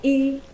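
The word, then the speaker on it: 一: One in Mandarin is called E. It's pronounced E.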